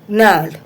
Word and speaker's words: gnarled: Pick out the two words from the lesson whose first letter is silent, pneumonia and gnarled.